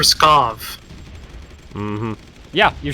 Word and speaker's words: Pskov: Chris cause pescado yes there's no R in networking pronouncing are you said you kept saying press cos it for Pskov mmhmm yeah you're saying